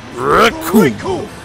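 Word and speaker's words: Recoome: Raccoon! And it rhymes! With doom, and you're gonna be hurting.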